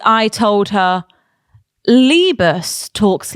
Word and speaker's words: Liebe: Maybe that my pronunciation was wrong then. Liebe. Yeah, Liebe. Liebe is love.